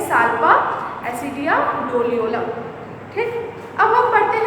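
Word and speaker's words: Doliolum: ठीक है, डोलियोलम होगा इसका सही प्रोनाउंसिएशन। तो क्या होगा?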